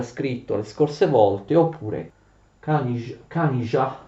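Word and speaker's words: Kanizsa: le scorse volte, oppure Kanija, perché ZS in ungherese si legge j.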